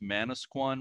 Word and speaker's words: Manasquan: By the way, I believe it's pronounced Manasquan River in New Jersey.